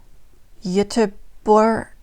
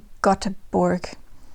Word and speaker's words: Göteborg: I wrote down a pronunciation guide, but it's probably still bad. Göteborg. It looks like Göteborg.